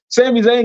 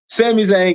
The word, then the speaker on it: Sami Zayn: Sami Zayn gets the dub. I said all of that just to say it wrong. Sami Zayn gets the dub.